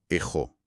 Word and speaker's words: έχω: Suena como ejo, con una j así bien marcada.